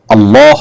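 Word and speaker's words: الله: দেখুন এটা ঠিক যে আরবি উচ্চারণের যে রীতি সে রীতি অনুপাতে আল্লাহ এ শব্দটার আগে যখন জবর বা পেশ থাকবে তখন সেটা একটু মোটা হবে মুখটা হালকা গোল হয়ে আসবে আর না হলে সেটা হবে সাধারণ স্বাভাবিক যেটাকে বারিক বলা হয় এখানে পোড় আর বারিক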